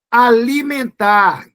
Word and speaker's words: alimentar: Porque o N, você não pronuncia o N. Eu pronuncio sim, pronuncia não. Você diz, sabe como? Me. Ficou um som nasal. Você pronunciaria o N se você dissesse assim, alimenta, mas você não diz isso.